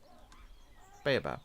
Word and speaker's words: baobab: Baobab, yeah.